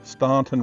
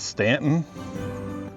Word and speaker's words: Staunton: Not to start an argument or anything, but this is the Staunton River. I'm going to pronounce it the way it's spelled. Many people will correct me and say it's Stanton, which the town is called Staunton, but it's spelled Staunton.